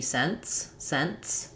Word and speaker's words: cents: For example, like with NTS, so I have 50 cents. We don't say cents. It ends up being kind of the same as just an NS sound.